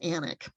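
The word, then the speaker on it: Alnwick: further north this is anak Castle I know it's spelled a-l-n-w-i-c-k but it really is anik um and this is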